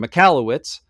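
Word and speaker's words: Michalowicz: It's by Michael, how do you pronounce his name? Mikalowicz.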